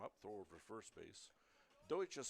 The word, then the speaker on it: Deutsch: Deutsch is spelled D E U T S C H. Pronounced Deutsch.